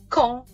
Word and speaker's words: Caen: Mais attends, il y a un nom d'une ville en Normandie dont la prononciation est Caen.